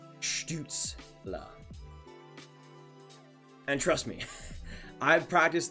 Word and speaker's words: Stützle: It's subtle, and not a lot of people actually do it, but that's how it is pronounced in Germany. Stützle.